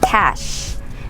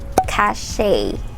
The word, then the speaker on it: cache: on your computer and we pronounce it as cash not cashe or not kache it's pronounced as cash like money cash cash say it so